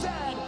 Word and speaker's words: Z: A toque is a hat, a Chesterfield is a coach, and it is pronounced Zed, not Z-Z.